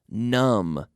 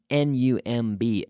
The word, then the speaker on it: numb: your hands just feel numb numb n nu MB numb you have a silent B there numb means when you